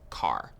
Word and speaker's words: char: short for character and sometimes you might hear people pronounce it as car so characters always take